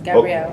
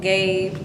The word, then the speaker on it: Gabrielle: Gabe, but like there's like 2 L's and 2 E's, so I'm not sure how they get that.